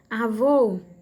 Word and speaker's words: avô: Avô, avô, a última sílaba vô, né? É a mais forte.